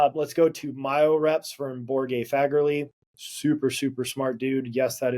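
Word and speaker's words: Borge Fagerli: Then let's go to Myo-Reps from Borge Fagerly. Super smart dude. Yes, that is how you pronounce his name.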